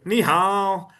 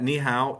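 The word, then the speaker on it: 你好: Yeah, they go over there, go, ni hao. If you don't know, that's actually the proper way to say hello, and its pronunciation is key. You could learn that ni hao is hello, but if you don't go ni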